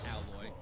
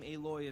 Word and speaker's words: Aloy: So in Horizon, you play as Aloy, and yes, that is how you pronounce her name, not Alloy. Anyway, you play as Aloy, a member of the